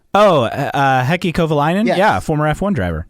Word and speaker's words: Heikki Kovalainen: Heikki Kovalainen. Oh, Heikki Kovalainen?